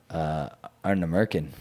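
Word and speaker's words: Ardnamurchan: gonna say Arna Merkin. I will never say that distillery's name because I don't even know how to pronounce That it.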